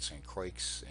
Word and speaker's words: St. Croix: Croix spanish-speakers pronounced the X the way English pronounces ax so we call it st. Croix and I actually went to all of these locations when we get to st.